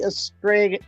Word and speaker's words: Estrella: And they say I say it wrong. It's supposed to be Estrella.